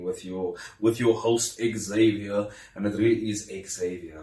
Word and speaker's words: Xavier: then I was like x a v i e r oh so it's actually Xavier and I was like no it's Xavier oh but wouldn't it